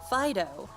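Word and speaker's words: Fidough: Fido are delightfully squishy Pokémon that are smooth to the touch. It's actually spelled like dough.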